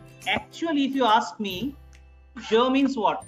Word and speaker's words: je: So that je sound, but here I am pronouncing it as je, like pleasure, treasure, measure. So je. And this E is pronounced as half a.